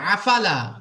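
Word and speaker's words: أفلا: এখানে দেখেন প্রথমে আছে হামজা তো আমরা হামজা বের করবো আফালা আফালা আইন বের করবো না আইন বের করলে খারাপ লাগবে আফালা জি আফালা পুরা একদম স্বাভাবিকভাবে একদম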